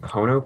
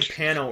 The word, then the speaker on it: Pono: What is this, like Pono Player? Pono Player? How do you say it? Pony Player. Oh, was it Pono? Because I said Pano earlier. Yeah, it's an O. Porno.